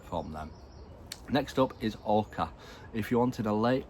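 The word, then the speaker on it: oca: Next up is orca.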